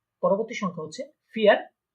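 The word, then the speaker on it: vier: ঠিক আছে, অনেকে বলতে পারেন যে এটা তো ভি, কিন্তু এটা ভি না, আমরা দেখেছিলাম যে জার্মানরা এটাকে ফাও বলে থাকে। ঠিক আছে, তো যেহেতু ফায়ের মতো বা ফ এর মতো উচ্চারণ হয়, তাহলে এটাকে আমরা বলবো কি ফিয়ার।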